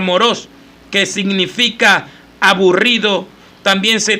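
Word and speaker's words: μωρός: El hombre insensato, aquí Jesús usó esa palabra griega que se pronuncia moros, que significa aburrido.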